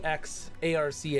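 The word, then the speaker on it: Exarch: It's spelled E X A R C H. And it's he's the crystal X arc.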